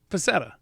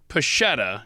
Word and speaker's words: Pascetta: right so it's not pachetta even though it's got the s and c together well technically it's probably pachetta oh well then our